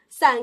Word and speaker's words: 伞: 第一个字是伞，它的声母是平舌音思，韵母是前鼻韵母俺。伞可以组词